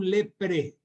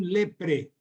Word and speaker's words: leprae: una bacteria llamada micobacterium leprpre lepraes escribe la terminación ae se pronuncia como e ya saben ustedes no entonces Nico bacterium leprpre Este es un pariente